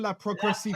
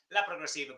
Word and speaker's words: Ron La Progresiva: Ron La Progresiva.